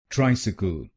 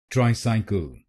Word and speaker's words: tricycle: C L E kal kal then it will become tris sickle tris sickle tri sickle tri sickle trisal trisal and in this word you have to put stress on the first syllable i.e.